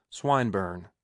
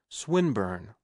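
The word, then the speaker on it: Swinburne: plan into execution and pronouncing the I long who swinburn he repeated with the same mispronunciation the poet swinburn she corrected yes that's the chap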